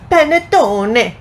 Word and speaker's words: panettone: she's trying it out it's panettone exactly and that's exactly how you're supposed to pronounce it uh this is a